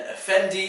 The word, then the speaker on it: Effendi: or singing chopper and Effendi is a man of property or education that one has to ask kind of like effect and then MD enti at the end the with the eye